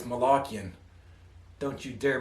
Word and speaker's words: Malakian: darren malachian actually i always thought it was pronounced malachian but apparently it's malakian don't you dare mispronounce a man's last name